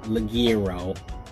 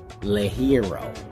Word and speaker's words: ligero: king of the hero not ligero not leg arrow le hero like that but not being